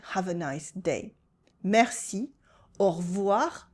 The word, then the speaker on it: au revoir: Merci, au revoir, I cut the E in revoir, bonne journée.